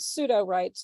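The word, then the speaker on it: Sudowrite: And then I read a New Yorker article in May of 2021 about pseudo-writes, that's spelled SUDORITE, which is a GPT-3 API for generating fiction.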